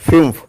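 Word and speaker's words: fünf: N Sean means beautiful F യു ഉംലോട്ട് എൻ എഫ് ഫ്യൂം ഇറ്റ് is pronounced as ഫ്യൂം it means five German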